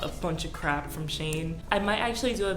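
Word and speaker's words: Shein: always called it Shane I know people pronounce it Sheen but I'm just so accustomed to calling it Shane these colors are so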